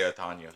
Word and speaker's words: Otano: But if we were going to like Hispanic, it'd be Otano. Yeah, okay, because Yeah, people ask me sometimes, they'll be like, how do you say his last name? And I say Otano. That's what yeah, I tell them. that's the proper way.